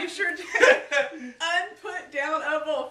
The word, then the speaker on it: Unputdownable: Unputdownable, 5 syllables.